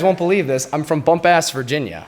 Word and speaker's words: Bumpass: believe this I'm from bumpass Virginia is that how you pronounce it it's supposed to be bumpass but it is bu M PA SS that's that is where